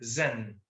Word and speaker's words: Zen: Los europeos, mucho más tarde, aprenden el Zan japonés y lo pronuncian Zen. Por eso lo escribimos con Z, porque se zumba un poquito.